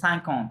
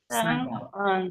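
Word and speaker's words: cinquante: Sunk লেখা আছে, দেখেন ওর সাথে জাস্ট অন্তটা অ্যাড করে দিবেন, তাহলে কি হবে? সাইকন, ঠিক আছে। সাঙ্ক তো এমনি লেখাই আছে, আমরা তো পাঁচ জানি না, 5 কি বলি যে সাঙ্ক মানে 5, হ্যাঁ, ওর সাথে অন্তটা অ্যাড করে দিবেন। আ এন তে আইন অ হয়, ওর সাথে টি অ্যাড, তাহলে অন্ত, হ্যাঁ, তাহলে সাইকন্থ এরকম হবে, সাইকন্থ, রাইট, সাইকন্থ।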